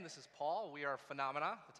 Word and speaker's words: Fanamana: uh I'm this is Paul we are phenomena that's how you pronounce it we're from Washington DC we're going